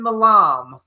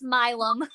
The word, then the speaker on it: Milam: with Ron Russell, actress, director, writer, Malam. And How do you pronounce it? Is that right? It's Milam.